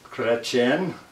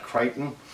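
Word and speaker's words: Chrétien: So again, this is the new baby, and the Ioptron 6-inch astrograph, Ritchey Chretien, not Crichton.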